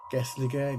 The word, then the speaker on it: Gelligaer: Alright, this is how you spell it. Gethligaer, Gelligaer, Roman Fort.